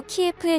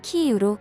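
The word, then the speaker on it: Київ: 대표적으로 우크라이나 수도 키예프의 명칭을 키이우로 고쳐달라고 지명 수정을 강력 요청했습니다. 이에 한국은 그동안 사용하던 러시아어 발음을 고쳐 키이우로 정정해 각종 언론 보도를 이어오고 있습니다.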